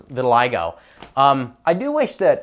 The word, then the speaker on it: vitiligo: underneath a new word like that the simple pronunciation guide cuz when I read it initially, I was saying vitiligo. Vitiliggo.